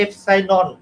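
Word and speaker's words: epsilon: আমি বুঝবো আর এটা এই উচ্চারণটা লিখে নাও এটা হলো এফসাইলন আর যদি এখানে এফসাইন নট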